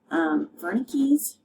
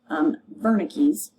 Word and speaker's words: Wernicke's: Temporal lobe contains Wernicke's area, that is spelled W-E-R-N-I-C-K-E, Wernicke's.